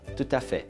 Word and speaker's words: tout à fait: inteiro onde que se fala francês que é tuta fé se você entrar em alguns vídeos você vê constantemente pessoas falando tuta fé eu tenho essa prática eu aprendi em Genebra